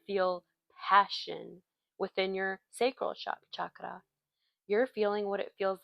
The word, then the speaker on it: chakra: chakra. That's how you say it. That's how you properly say it.